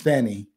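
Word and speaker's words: Fannie: I'm from the south I know f a n i No parent in the South would be having a French pronunciation of that word that's Fanny uh sometime F Fanny May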